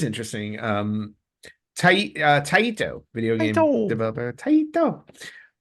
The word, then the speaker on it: Taito: Taito. I think that's how they say it, because I remember from Bust the Move too. Like Taito. Yep.